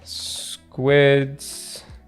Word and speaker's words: Sqids: It's pronounced squids, but it's SQIDs.